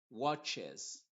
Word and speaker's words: watches: esta regla general acá fixes watches pasa lo mismo las que terminan en ch se les Agrega una es al final en la tercera persona singular en el presente simple y la e sí se pronuncia en este contexto lo mismo acá y